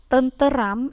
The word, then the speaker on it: tenteram: Maka ketika melafalkan tenteram mungkin bisa juga atau mereka akan melafalkan tenteram, terampil, komputer misalnya. Tetapi dalam kaidah pembakuan pelafalan itu tetap ada bahwa Tenteram itu dilafalkan tenteram.